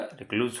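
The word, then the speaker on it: recluse: ये भी जो है रिक्लूज, ये रिक्लूज जो है इसको अच्छे से प्रोनाउंसिएशन देख लीजिएगा, रिक्लूज होता है।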